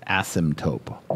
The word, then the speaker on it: asymptote: I think I'll use it my whole life is asymptote. Nailed it. Right? Just because it's fun to say. No, I was I didn't pronounce it right the first time.